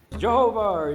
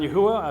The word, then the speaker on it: Yahweh: means to exist the one who exists come Jehovah Jehovah I've kind of gone through all of